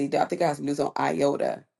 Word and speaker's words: IOTA: Um, we got something news on, let's see, I think I got news on IOTA. Iota. Did I say that right? Yeah, you said it right.